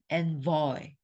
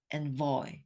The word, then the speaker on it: envoy: 에잖아.이 i 발음은요 메eng저할 때 발음이고 envoy envoy 뭐라고요? envoy envoy 발음 기호의이 발음은 애 발음이에요. 그죠?